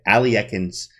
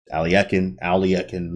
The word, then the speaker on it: Alekhine: But you will be today we're looking at Alekhine's gun, and Alekhine, right?